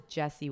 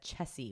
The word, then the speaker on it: Chessie: are you kidding which I always thought was Jesse with a J but then we watched it with subtitles and it said Chessie with ch and I was like oh no oh I've been saying it wrong my whole life yeah that's okay okay